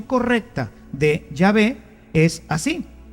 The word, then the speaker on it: Yahvé: llave y por eso Nosotros sabemos que la pronunciación correcta de yahvé es así y ave y no Jehová que simplemente una una literación se fue haciendo